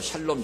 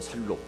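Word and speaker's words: שלום: 우리는 그냥 한국말로 샬롬, 샬롬 그런데 원래 정확한 발음은 살롬입니다. 살롬.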